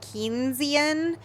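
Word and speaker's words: Keynesian: does that mean kinan kesian po oh no oh no kesian it PL pronounced like kinan economics economics is just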